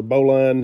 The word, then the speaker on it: bowline: for you today on a bowling knot or bowline it's spelled b-o-w-l-i-n-e if you want to look it